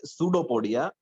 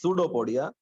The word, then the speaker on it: pseudopodia: Pay attention to the pronunciation. P is silent, pseudopodia. It is pseudopodia.